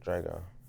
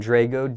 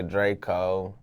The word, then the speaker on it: Drego: with with your name Drago do people ever mispronounce it dra a lot of say Draco lot of nigas a